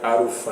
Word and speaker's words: Alpha: Se escreve Alpha, mas na pronúncia deles sai Arufa, né?